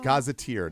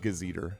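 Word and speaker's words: gazetteer: scramble scramble scramble yeah it is gazeteer not gazer to be clear uh when I was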